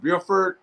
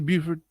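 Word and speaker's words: Burford: well i like uh mr bilford i i think i mispronounced his last name spencer beauford yes yes and i'll get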